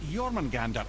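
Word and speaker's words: Jörmungandr: You wouldn't know it to look at him, but Jormungandr is a sparkling Jormungandr. conversationalist. That's how the proper pronunciation goes.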